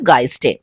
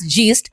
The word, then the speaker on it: Geist: আমরা ফাইনালি পৌঁছে গেলাম গাইস্টে আচ্ছা এতক্ষণ আমি ভুল প্রোনাউন্স করছিলাম এস জিস্ট বাট এখানে সেটা জানতে পারলাম যে it's pronounce গাইস sorry for that আচ্ছা এটা একটা পেট ফ্রেন্ডলি ক্যাফে কাম ব্রিউরিং।